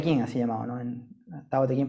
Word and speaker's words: Tao Te Ching: En Tao Te Ching pronunciado.